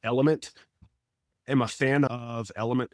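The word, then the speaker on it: LMNT: now there's another one that's four letters l m NT pronounced element Am a fan of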